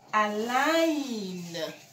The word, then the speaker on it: align: So you don't say a like g, no. The G don't talk. See the N there? When the N, G sees the N, it knows that it's supposed to close its mouth. So, you're going to say align. Align. Don't say the name of the G. Do not say the sound. No, neither hard nor soft.